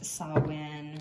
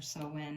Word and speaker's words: Samhain: Since it is Samhain or Samhain, however you want to pronounce it, and we're dealing with